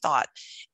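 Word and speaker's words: Thoth: For those of you that are wondering who we're talking about, her name is Candace Thought. And that's spelled T-H-O-T-H.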